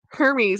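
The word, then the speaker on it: Hermès: because you say it Hermes I'm like oh you're right it does say Hermes why are we calling it heres you because they don't pronounce the h um Keith us how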